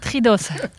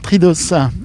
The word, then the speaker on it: Tridos: Alors, Tridos. Et on prononce le O et le S, hein, c'est ça ? On prononce toutes les lettres, oui. Alors, on va avoir une particularité de Tridos, c'est qu'il y a